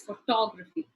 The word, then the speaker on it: photography: for you to recognize that the stress could go on the second syllable. Photography. If I say photography or photography, the pronunciation changes. So it is photography.